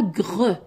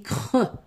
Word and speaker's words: creux: creux creux نقولوش creux on dit pas greux non on dit creux بالخاء creux cri cri